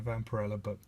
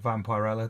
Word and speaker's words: Vampirella: So I'm trying to collect all the old Warren era Vampirella, or Vampirella, depending on how you want to pronounce it.